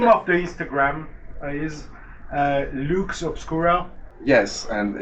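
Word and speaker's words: Lux Obscura: the Instagram is uh Luke's obscuro yes and it's spelled like it's pronounced l u x o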